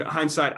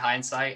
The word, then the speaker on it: Hynesite: So Love it's basically, so it's site, just SITE, and then Hine with the Y in front of it.